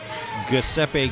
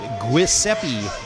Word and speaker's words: Giuseppe: his partner who uh was apparently not pleased with my pronunciation of his name Giuseppe gambini I think I had called him Guiseppe gambini before at the last RCW show I was at I don't know I think Guiseppe has a better ring to it but Giuseppe perhaps is better and I apologize